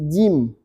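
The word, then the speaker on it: ج: Ini bacanya jim. Tah? Tidak boleh kita baca ja. Masih jim.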